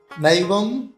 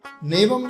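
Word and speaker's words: नैवं: हो जाता है महत्वम नवम नैवम नहीं दो मात्रा है नैवम त कांच नहीं कांच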